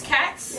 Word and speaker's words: Katz: Can everyone say Miss Katz? Miss Katz. And look at how it's spelled, K-A-T-Z. But know right now that word is Katz.